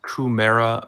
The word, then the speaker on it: Kumara: Oh, am I also pronouncing this Kumara River correctly?